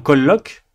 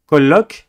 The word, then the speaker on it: colloque: Le terme colloque, d'accord, un colloque par exemple universitaire, vous avez 2 L. Eh bien, vous insistez sur le L parce qu'il y en a 2. Vous dites bien colloque et non pas colloque.